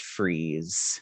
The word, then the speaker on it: Fries: mr fry's says fries it's spelled fries but it's pronounced freeze and your mcdonald's god